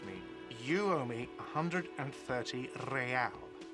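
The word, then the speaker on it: réal: You owe me 130 real. pronounced with an R with a mock aristocratic accent.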